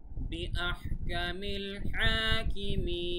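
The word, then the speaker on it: بِأَحْكَمِ الْحَاكِمِينَ: গলার ভেতর থেকে বলবেন হ্যাঁ, বিআহ কামিল হাকিমিন।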